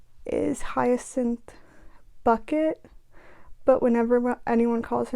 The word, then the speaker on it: Bucket: And her name is Hyacinth Bucket. But whenever anyone calls her Mrs. Bucket, she's like, it's pronounced bouquet.